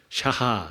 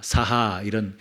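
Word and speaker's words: שחה: 샤하, 사하 이렇게 발음하는데, 이 단어는 춤이라는 단어이지만 경배의 의미를 담고 있습니다.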